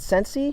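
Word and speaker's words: Scentsy: Uh how do you pronounce that? Sensei. Sensei. Yes.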